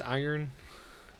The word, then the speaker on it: iron: Once knew someone for which their entire life they thought you pronounced the R in iron, and no one corrected.